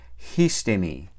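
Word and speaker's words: ἵστημι: Esta primera sigma desaparece y se queda ahí sola la iota. Y para compensar, la iota toma un espíritu rudo. Entonces esa palabra se pronuncia histemi.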